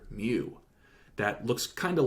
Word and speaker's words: mu: is the Greek letter mu. That looks kind of like a U in our alphabet, but with a little tail on the left-hand side. And it's pronounced like the Pokemon, but it's spelled differently.